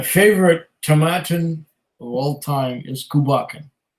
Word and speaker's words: Tomatin: Um, uh, Satin rhymes with Satin Tomatin. My favorite Tomatin of all time is Kubakken.